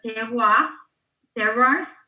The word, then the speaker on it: terroir: Like we're trying to put like the terroirs.